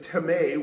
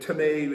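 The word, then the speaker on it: τιμή: the greek word is tame which is spelled time in our english language but tame is how it's pronounced in the greek and it means to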